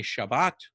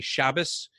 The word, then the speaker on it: Shabbat: to pronounce hebrew so for sabbath the safaridin will say shabbat and the ashkenazim will say shabbos and you'll hear a